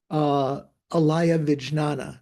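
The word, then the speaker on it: ālaya-vijñāna: So this is what the Tibetans call kunshi, and in Sanskrit is alaya vijnana. Is that putting the pronunciation on the right syllables, Paul? Yeah, Alaya Vijnana.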